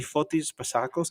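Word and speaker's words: Fotis Bazakos: I want to say his name correctly, Fotis Basakos.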